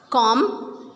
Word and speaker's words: comb: We will not pronounce B in all of these words.